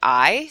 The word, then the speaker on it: hay: you use the word I. So H-A-Y. So remember in Spanish, the H is silent. So you would say I means there is or there are.